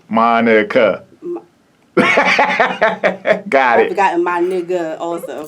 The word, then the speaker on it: Monica: life yes it has what have you gotten monica monique mona and monica oh wow wow like broken down monica so let's hear you say it monica monika got it you got